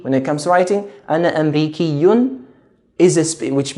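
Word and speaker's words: أمريكي: answer is male why because when it comes to speaking I'm stretching the e sound again Amriki when it comes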